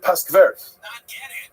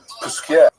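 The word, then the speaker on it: Posquières: yeshivas, and in Jewishly, we call it Paskvert. But Paskvert is somewhere in Lita, that's in Lithuania, not the real correct pronunciation. So it's Puskier.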